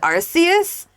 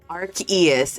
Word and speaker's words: Arceus: Like, can we spell it phonetically for me? Is it Arceus?